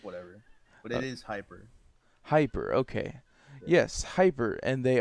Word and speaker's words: Hipr: very special guest uh hipper is that is that how you pronounce it hipper nah it's meant to be uh said hyper but a lot of people do say hipper so i kind of